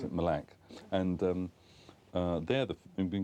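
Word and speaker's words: Mille Lacs: to a place called with we would say meal lack but it's they pronounced in malac and um they're they've been getting some really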